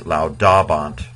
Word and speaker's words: laudabant: but here it's laudabant because the A here is short.